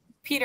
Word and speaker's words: Peter: Is it Peter or Pater? How do you pronounce it? Peter. Okay, Peter, okay.